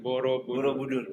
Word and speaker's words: Borobudur: Pronunciation Borobudur. Borobudur.